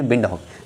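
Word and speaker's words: Windhoek: दिया है पिंड हॉक पिंड हॉक नहीं है ठीक है पिंड हॉक की जगह प बंड हॉक है ठीक है विन वी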